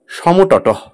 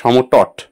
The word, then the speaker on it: সমতট: 5 নম্বর সমতট বা সমতট, দুটো উচ্চারণই কিন্তু কারেক্ট।